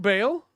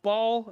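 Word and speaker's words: Bael: of course okay um that's why I say Bale instead of ball as some people would say it instead right uh but those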